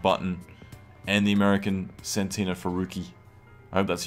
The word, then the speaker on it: Ferrucci: Mickey Schumacher is officially coming second behind Button and the American Santino Ferrucci. I hope that's how you pronounce his name. How would you pronounce it? Ferrucci? Ferrucci. Okay, Ferrucci.